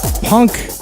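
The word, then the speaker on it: Punkh: From New Delhi, Punk H. That's how it's spelled. P-U-N-K-H. Punk.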